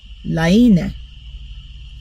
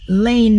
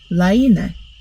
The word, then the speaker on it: Laine: Maria told me that Hannah says this is pronounced Laine. Hannah, am I saying that right? I hope so. I've been saying Lane magazine. It's Laine, which I think sounds cool.